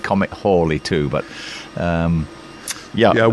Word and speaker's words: Halley: So, I I think I'm going to start saying Comet Halley, too, but Yeah. Yeah, we all grew up saying Halley, didn't Halley. Halley's Comet. Yeah. Patrick Moore used to say Halley, but he did change it towards the end of his life.